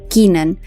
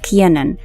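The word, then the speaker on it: Kiernan: to become a teacher most people call him Kenan but he has actually clarified that his name is actually pronounced as Keanan because his father loves sports and he actually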